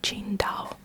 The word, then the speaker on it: Qingdao: city, from this region, the way they spell it in English, on the bottle it says T-S Ingdao, Qingdao, but it's actually pronounced Qingdao.